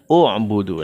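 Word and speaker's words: اعْبُدُوا: Kalau huruf sebelum terakhirnya berharakat dhammah, maka dia juga berharakat dhammah.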